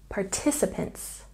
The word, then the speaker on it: participants: syllable copies copies and participants has a stress on the second syllable participants participants and here's something